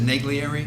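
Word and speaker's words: Naglieri: spell that for me, please. I can never remember it. Is it Neglieri?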